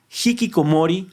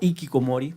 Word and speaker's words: hikikomori: Hikikomori o ikikomori, dependiendo cómo lo quiera pronunciar a usted, es una condición que